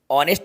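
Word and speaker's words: honest: के देखो ठीक है इसमें एच साइलेंट है ये जो एच है यह एच यहां पे साइलेंट है एच की आवाज नहीं आएगी यहां पे आ की आवाज आएगी तो जब वाउल की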